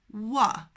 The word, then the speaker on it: what: not wah-ha-ha-ha no it's what so if miss Liz writes a world down here I want you to try and tell me the sound so the H is silent it's wah it wet